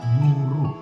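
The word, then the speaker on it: goeroe: temui dan kita ketahui yang pertama huruf oe digunakan untuk bunyi u contohnyaero untuk guru jadi dibaca guru yang kedua huruf DJ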